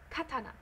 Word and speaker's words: katana: careful like for example the word Katana it's pronounced Katana the syllables all have the exact same pronunciation